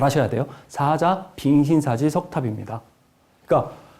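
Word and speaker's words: 사자빈신사지: 발음 잘 하셔야 돼요. 사자 빈신사지 석탑입니다.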